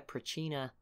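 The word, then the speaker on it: Pracinha: in this war and have now got their Prachina, that's how you say it, unique units.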